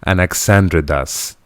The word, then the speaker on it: Anaxandridas: He was the son of King, let me pronounce this right, because Anaxandridas II, who in turn was believed to be